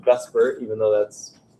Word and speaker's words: VSEPR: this is what the model is VSEPR it's pronounced bus Burt even though that's not really too Beavis suffer